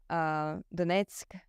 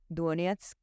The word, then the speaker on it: Donetsk: okay, now I really know what the correct pronunciation is. And so it is Zaporizhzhia, it is Kharkiv, it is Donetsk, it is not Donetsk, as a lot of So not Kiev.